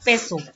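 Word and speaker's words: peso: उसका प्रोनाउंसिएशन कितना है, क्या है? पेसो।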